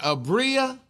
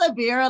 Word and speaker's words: Abira: Abria? How you it's Abira, like a 6-pack.